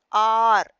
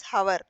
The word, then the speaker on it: hour: Now look R that is starting with H but we pronounce it as R. We don't pronounce it as how that is wrong.